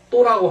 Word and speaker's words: と: 그러니까 이때 또라고 하는 말은요 반드시 읽을 때 이렇게 발음을 이렇게 또 이렇게 읽어야 됩니다.